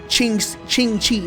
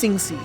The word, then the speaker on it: Singsi: I would have immediately been like Ching Chi or something like that. But no, it's Singsi.